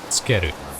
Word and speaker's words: tsukeru: So this character here, tsu, tsu. But in pronunciation, it actually gets said quite quick. Tsukeru. Tsukeru. Almost like it's not there.